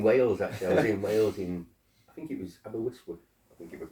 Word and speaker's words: Aberystwyth: I was in Wales I think it was Aberystwyth, I think it was called. Yeah. That's how you pronounce it.